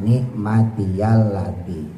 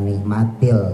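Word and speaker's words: نعمتي: Tulisannya nikmatya ketika diwaqafin yanya diganti sama sukun berarti mati. Jadi mad thobi'i panjangnya dua harakat nikmati. Tapi ketika diwasol ya dibaca lagi kembali y-nya. Nikmati lati bukan nikmatil ya bukan nikmatil lati tapi nikmatal lati karena diwasol.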